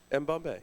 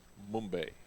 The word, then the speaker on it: M. Bombay: M. Bombay. For sure. Yeah. Yes. Why? Did you think it was something I different? thought it was Mumbai, like the silent B type of thing.